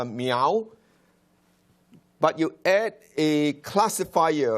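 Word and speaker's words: 猫: it is pronounced meow Mao sorry so it sounds like the sound of a cat all right when it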